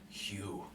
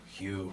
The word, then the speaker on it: Hugh: My name's Hugh. No. Gotcha. Okay, I'll see you, Rex. Hugh. Hugh, sorry. The name's. Hugh. It's Hugh spelled like H-U-G-H, and then man, it's like M-H-A-N.